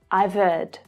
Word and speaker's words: I've heard: Now, the H of heard, it often gets a little lost here. It's like the v sound from the end of I've links directly to the vowel in heard.